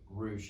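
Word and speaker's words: Ruch: i see him i ask him how to pronounce his last name yeah it's rouge it's rouge it's r-u-c-h okay yeah and so uh my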